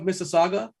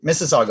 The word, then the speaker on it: Mississauga: TJ, are you aware of Mississauga? Oh wait, hold on. Did I mispronounce that? Oh geez, I mispronounced it. No, you got it right. Mississauga, Ontario.